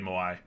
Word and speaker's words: Moai: Draxtar is saying we got the correct pronunciation on GMK Moai.